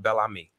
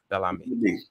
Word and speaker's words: Bel Ami: Yeah, it's pronounced Bel Ami. Bel Ami. Bel Ami. Yeah, it's French. It means beautiful friend.